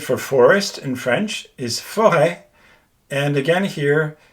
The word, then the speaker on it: forêt: So for example, the word for forest in French is forêt. And again here, you pronounce it with a widely open mouth.